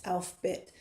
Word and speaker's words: Alphabet: So, there's something called the Alphabet Well, it's it's spelled alphabet, but it's Alf Bit of Ben Sira.